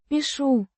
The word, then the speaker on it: Пишу: Пишу коряво, обломком карандаша, на помятой бумаге. Пишу. Means, I write, or, I am writing. Pronounced. Пишу. With the ша. sound as in, ship.